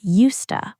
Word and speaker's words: used to: no e d and pronunciation does not help both versions sound identical in natural speech both sound like yoosta which is why this